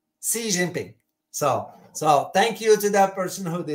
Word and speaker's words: Xi Jinping: the name of the Chinese president I was pronouncing it wrong I used to say president XI now it's wrong I was told through the